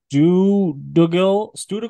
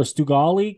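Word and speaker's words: Stuðlagil: My number four here is the Stugal or Stugali Canyon. I think that's pronounced like a D.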